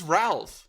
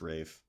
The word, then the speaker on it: Ralph: That is Ralph. No, it's Rafe.